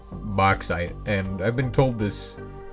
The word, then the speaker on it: bauxite: But I've been told bauxite. It's actually bauxite. I like to call it bauxite though, because it just sounds cooler. But I didn't actually know it was called bauxite, and I've been told this.